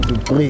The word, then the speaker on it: Du Preez: I'm sitting here with Dalton Du Preez.